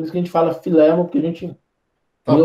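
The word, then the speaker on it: Filemom: Existe uma certa concordância de que no grego o acento está em cima do E. Então, aí, por isso que a gente fala Filemon, porque a gente lê o texto grego, o acento está ali.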